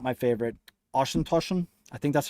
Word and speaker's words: Auchentoshan: Auchentoshan. I think that's how you pronounce it. Auchentoshan.